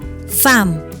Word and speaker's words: thumb: Kita baca thumb, bukan thumb.